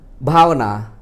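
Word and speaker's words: bhāvanā: We pronounce bhavana, not because it has to be with age, and you cannot write with P here. Some people like this, it's wrong, but it has to be B, because bha here, bha, yeah.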